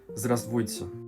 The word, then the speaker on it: Здравствуйте: And in fact, the pronunciation is so naturally derived from the correct spelling into what is just easier to say. Здравствуйте becomes здравствуйте. And you'll find this a